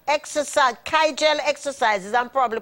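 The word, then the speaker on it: Kegel: sex in your 50s remember to do those kyel exercise kaiel exercises I'm probably pronouncing it incorrectly it's k e g e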